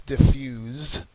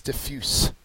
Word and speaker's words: diffuse: the end so it's diffuse and the adjective form has an S sound so it's diffuse okay so the verb